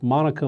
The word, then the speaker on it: Monica: And the other is President Clinton and his problems with Monica Lewinsky, not Mona. I'm sorry, I mispronounced the name.